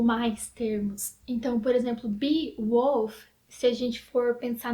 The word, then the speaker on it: Beowulf: deixei aqui para vocês, mas na oralidade ele também tem o sentido de bee, que é abelha, e de wolf, que é lobo.